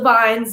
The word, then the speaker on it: bine: grab some of the vines and pick them off the vines and eventually you know the brothers who owned for a farm were like you're saying it wrong it's a vine and we were like